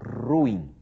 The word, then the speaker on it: ruim: E ato e a pronúncia correta, a pronúncia culta considerada culta, aceita como culta, é essa ruim. É assim que se diz no padrão formal, ruim.